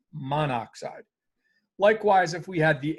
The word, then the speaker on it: monoxide: always ends in i so mon mono oxide carbon monoxide um better pronounced as carbon monoxide so typically what happens